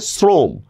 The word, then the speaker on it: শ্রম: কথা বলবেন এই টাইপের এখন দেখেন আমি একটা শব্দ বললাম দেখেন শ্রম সাধারণত শ্রম শ্রম লিখছি আমি তালব বস দিয়ে কিন্তু উচ্চারণ করতেছি কি দন্তস্বর মত শ্রম বলতেছি না বলতেছি হচ্ছে শ্রম তা এজন্য এটার উচ্চারণ